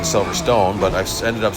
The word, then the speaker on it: Silverstone: stage two and we are over at Silverstone or Silverstone. It depends on how you pronounce it. It really should be Silver Stone, but I know some